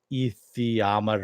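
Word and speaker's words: Aether: either so yes but the way she pronounced it where she phonetically just brought it out Ethier I was like oh okay thanks I actually know what it is yeah thanks mrs.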